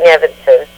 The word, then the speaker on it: Eavenson: Thank you so much, and you did a great job pronouncing Eavenson.